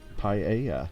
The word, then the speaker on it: paella: My guess is Paekla. Yeah, Paekla. Yeah, because it depends what language you're trying to pronounce it in, doesn't it? Paella. Yeah, there you go. Or paella, if you're English.